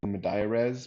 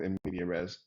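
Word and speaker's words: medias res: know immediate res um i guess that's pronounced madaya res but i'm just going to go with nvidia res and what that means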